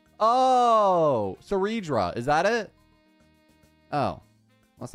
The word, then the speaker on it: Cerydra: You not see the R in her name? What? Cidra. I'm legit pronouncing the R. Sera. Cedra. Ceredra. Oh, Cedra.